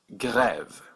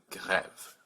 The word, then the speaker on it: grève: So this word is pronounced grève with a hard G, g, grève.